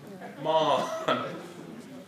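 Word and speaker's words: מן: And to pronounce the word manna in Hebrew is mon.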